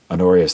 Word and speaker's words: Honorius: he took the name honorius the first it spelled with an h so honor honor i-u-s h-o-n-o-r i-u-s anorius ii excuse me the second he accepted election on december 21st 1124.